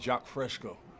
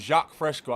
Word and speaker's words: Jacques Fresco: Hey, real quick, I wanted to ask you if you ever heard of a man named Jacques Fresco.